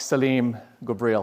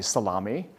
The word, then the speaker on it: Saleem Ghubril: not sure why but some folks have a hard time pronouncing it i think it's an easy name to pronounce so i've had people not not jokingly but thinking for real that's my name call me salami or or slime i don't find that